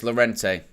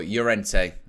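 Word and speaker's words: Llorente: really really fascinating one here's laurente or urente shall I say gotta work on the pronunciation never too old to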